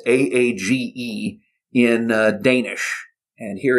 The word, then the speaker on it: Aage: first name was actually spelled a-a-g-e and i was afraid that this was going to be unpronounceable that it was going to be pronounced something like arg or with my fist in my mouth or something like that but it's actually quite easy to say we actually got a